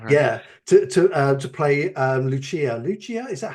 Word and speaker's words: Lucia: Lucia, is that how you say it?